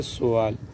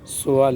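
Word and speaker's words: سؤال: یہ لفظ غلط ہے۔ سین پر زبر دے کر ادا کرے تو یہ غلط ہے، سین پر پیش کے ساتھ اس کو ادا کیا جاتا ہے سوال، سوال یہ اصل صحیح تلفظ ہے۔ لتسألن سوال اس کا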